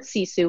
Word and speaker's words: sisu: called true Sisu life the word Sisu is actually a finnish word it's spelled SI su there's really no direct